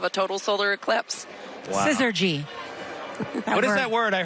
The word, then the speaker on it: syzygy: Syzygy. Yes. Syzygy. Can you spell it? Oh, boy. Is it SD? Is it SYZ? It means perfect alignment, which is what we're witnessing.